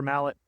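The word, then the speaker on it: Malott: Um, 122 and one for Mallet. Uh, I'm still going with Malo. That's the French pronunciation.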